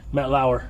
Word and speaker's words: Matt Lauer: say name his name michie matt l l-a-u-r matt lauer matt lauer he used to be on a what is